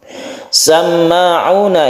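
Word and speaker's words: سَمَّاعُونَ: Samma'una ini adalah tasydid mim yang kita kenal dengan gunnah musyaddadah. Gunnah karena dia itu bertasydid, kita dengungkan membacanya, kita tahan ketika dia itu bertasydid.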